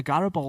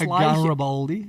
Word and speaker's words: Garibaldi: A Garibaldi. That was an unusual pronunciation, that, Paul. You rolled those R's there. It's Garibaldi.